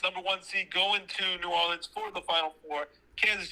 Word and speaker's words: New Orleans: he said it's not nolan's it's not new orleans it's new orleans okay so i think